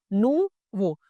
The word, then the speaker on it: nouveau: इसीलिए हम इस वर्ड को फ्रेंच में नू प्रोनाउंस करते हैं। राइट? मैं आपकी और इजी समझने के लिए इसको लिख देता हूं। नू राइट? नू वो।